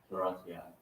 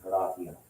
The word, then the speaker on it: Horatia: Yeah, and in a standard like English accent, yeah, we'd say Horatia, right? So kind of like Americanized. there's some Latin words we just pronounce it like in English, so we use it like But this would be Horati. Like the I sound, you need the diphthong AE for that.